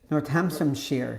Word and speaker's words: Northamptonshire: Northamptonshire.